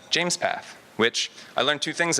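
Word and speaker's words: JMESPath: James is the creator of a tool called James path which I learned two things about first it's pronounced James path and that means he named it after himself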